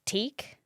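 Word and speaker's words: tík: Is teak. Teak. So it's so easy. That's nice and quick. yeah, yeah. Take that. Teak, yeah. Take that. Call someone from Korea. Oh, Teak.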